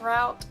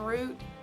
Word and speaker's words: route: aunt aunt another one that I can't really decide between is route and route because Sam both ways but I think I say route more and that's just because